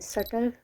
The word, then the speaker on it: subtle: Well, often sometimes T is silent, then subtle, and there are a lot of words.